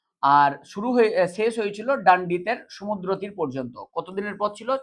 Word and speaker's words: ডান্ডি: না আসার জন্য গান্ধীজি ডান্ডি অভিযানের প্রস্তুতি শুরু করেছিলেন। তো ডান্ডি অভিযান ডান্ডি অভিযানকে ড্যান্ডি অভিযানও বলা হয়।